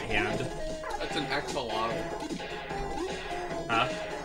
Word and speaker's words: axolotl: That's an axolotl. Huh? It's actually pronounced Akshlatl.